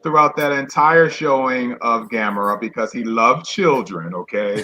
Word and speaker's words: Gamera: Some people say Gamera, but it's Gamera.